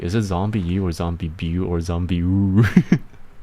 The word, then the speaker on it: ZombiU: Is it zombie U or zombie or zombie? Zombie U. It's pronounced as you.